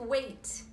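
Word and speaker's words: weight: this CJ I keep why is there a G particular J it what policy wicked wicked yeah but that's not the pronunciation it's the same as to wait okay and this is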